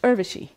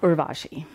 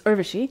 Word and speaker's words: Urvashi: my name it's pronounced Urvashi which rhymes with hershey it is not Urvashi it's Urvashi and my last name